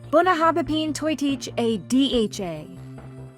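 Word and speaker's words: Bunnahabhain Toiteach a Dhà: Professor Gene, this whiskey is called the “BUNNA-habba-peen-toy-teach-a-D-H-A.” Oh, boy, that sounds pretty tricky, but I'll give it a try: “BUNNA-habba-peen-toy-teach-a-D-H-A.”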